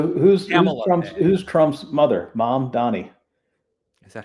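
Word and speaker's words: Mamdani: writing for the wire, it would be like m a capital m a h m uh mom donnie.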